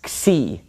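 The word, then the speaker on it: ξ: but anyway this is C C makes the X sound so we have me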